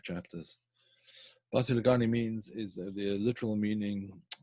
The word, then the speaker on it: Basi LeGani: Basi LeGani is the literal meaning. It's in sort of Ashkenazi pronunciation rather than the modern Israeli pronunciation. The modern Israeli pronunciation would be Bati LeGani.